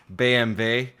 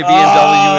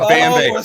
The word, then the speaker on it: BMW: all of you and say it is actually pronounced BMW. You say BMW in Germany, and they're going to look at you like you're nuts. It is a BMW.